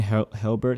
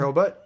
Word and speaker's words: Hurlbut: I 'Cause think I'm pretty Shane Helbert had. Did I say his name right? His last Shane name? Hurlbutt.